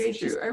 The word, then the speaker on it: Jeju: And, I never even thought about, is it Jeju? I don't know how to pronounce it. Jeju. Yeah, just Jeju.